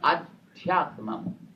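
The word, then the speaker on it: अध्यात्मम्: Anything related to the internal world like mind, intellect and beyond, it's called Adhyatmam.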